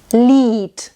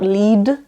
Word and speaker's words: Lied: Lied. So it's not Lied, it's Lied. It actually sounds like a T.